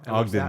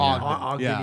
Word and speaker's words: Ogden: Is that how you pronounce it? Ogden, Utah? Ogden, Ogden, Utah.